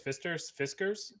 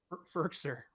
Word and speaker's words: Firkser: Fiskers? Firkser.